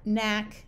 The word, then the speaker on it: knack: in Signal or malignant when you have k n together the K is silent like in no knob Knack knife and not notice that